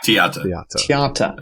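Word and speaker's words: Theate: So it's do we have that right pronunciation? Is it Tiata? Tiata. According to the Belgian broadcast.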